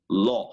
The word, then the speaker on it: law: so a lot of people pronounce these like they read em like lung or something like that or low or something but you said it very well it's law remember something when I